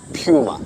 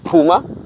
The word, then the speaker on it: Puma: currently launching the Ford Puma it's not a puma it's a puma you must pronounce it properly so this car is